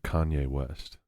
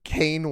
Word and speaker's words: Kanye: friends from high school does not pronounce Kanye West's name correctly on purpose how do they pronounce he calls him kane west Kane that is